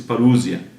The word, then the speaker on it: parusia: só na parou se parusia né se escreve para o Luzia mas é parusia a tradução do grego